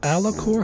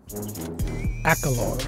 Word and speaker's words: Akalor: Does Alakor have helixes or jabs? Akalor is his name. Said it wrong.